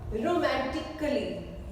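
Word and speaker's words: romantically: रोमांटिकली, रोमांटिकली A silent है।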